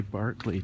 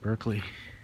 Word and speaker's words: Berkeley: So my last night in Derby, I guess that's how they say Berkeley too, instead of Berkeley.